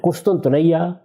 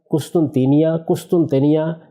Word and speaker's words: قسطنطینیہ: قسطنطنیہ، قسطنطینیہ یہ اس کے مختلف تلفظ ہیں جو ہمارے ہاں رائج ہے تلفظ.